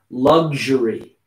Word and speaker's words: luxury: sound is a good lux lug it's a very strange sound luxury luxury luxury luxury lug nut almost like luggage but luxu luggage luxury luxury luxury yeah luxury